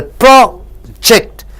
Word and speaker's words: project: When you stress the first syllable, project, it means research.